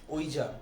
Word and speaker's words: Ouija: में जो है इसका प्रोनाउंसिएशन जो है वो होता है ओइजा, और हमारे यहाँ पे जो है ओजा भी कहते हैं।